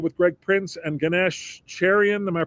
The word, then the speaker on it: Cherian: This Saturday is another episode with Greg Prince and Ganesh Cherian. Am I pronouncing that correctly? That's correct. Cherian.